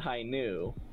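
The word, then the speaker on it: Hi-ν: The V is the Greek letter nu. So they pronounce it high nu.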